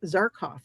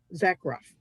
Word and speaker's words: Zakroff: She has amazing sigils that she's created, and that is Laura Tempest Zarkoff, and it's her book Sigil Witchery. Zakroff. I always mispronounce her name.